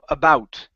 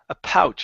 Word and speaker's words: about: to the B sound give me a voice sound here instead of aout a BB bow about about almost you're saying a p a pout you're pronouncing a p give me a BB